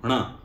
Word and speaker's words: ण: और जब न की बात आती है, ण, ण में क्या है कि जीभ को थोड़ा सा पीछे की तरफ बेंड करना है, और जहां पर अभी